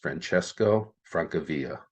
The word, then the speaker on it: Francesco Francavilla: his name pronounced, but I believe it would be pronounced Francesco Francavilla.